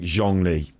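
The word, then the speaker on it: Zhongli: Lee jongli so John Lee's name I'm saying zhangli the hardest thing is Zhang like the first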